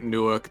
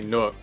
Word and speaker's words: Newark: You know, people that live in Newark just want to say Newark. Yeah, you kind of skip the W there. Or Yeah, sometimes it's a you, Newark. like, sometimes you skip it. Other times you really pronounce it.